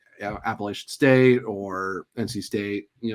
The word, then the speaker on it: Appalachian: at again for it because it's not Apple.